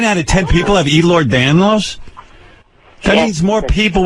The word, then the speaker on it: Ehlers-Danlos: Ehlers-Danlos. How many people in the world have that? Can't be many. About 9 out of 10 people. 9 out of 10 people have Ehlers-Danlos?